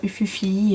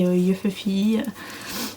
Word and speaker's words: Ufufy: Bon, moi je dis ça comme ça, après vous le prononcez comme vous voulez, hein. Vous pouvez dire Ufufi, Yufufi, c'est comme vous voulez.